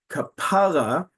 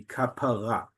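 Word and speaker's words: כפרה: In modern Hebrew, the stress is on the last syllable. That is a major component of what makes modern Hebrew modern. The stress is almost always on the last syllable. This is kapara, which already tells you, because it's on the penultimate syllable, that this is not modern Hebrew.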